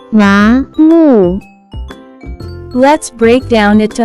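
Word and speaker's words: 麻木: can be pronounced as 麻木，麻木，麻木。 Let's break down it to understand it even more. It has 2 characters, pronounced with 2nd and 4th tone.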